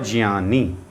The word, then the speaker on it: ज्ञान: तब बनता है तो इसका उच्चारण होता है जिन और जियानी तो यह जान दो